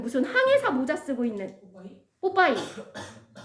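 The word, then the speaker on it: Popeye: 자, 이 단어 혹시 읽으실 수 있는 분이 계실라는 모르겠는데 자, 직역하면 그냥 발음한 뽀빼 예 이러는데 우리나라 저기 TV에 나오는 캐릭터 이름으로는 뽀빠이거든요. 뽀빠이 아세요?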